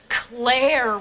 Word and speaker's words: Claire: Claire rhymes with care.